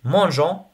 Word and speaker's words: mangeons: voyager avec nous nous mangeons nous voyageons on ajoute le E pour la prononciation pour la prononciation si